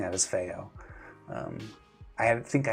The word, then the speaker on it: FiiO: You're saying that it's known as fyo in Chinese. I I pronouncing that as fyo.